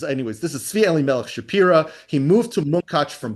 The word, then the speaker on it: Shapira: This is Tzvi Elimelech Shapira, depending on how you pronounce it. We're just going to say Shapira because that's how they say their name.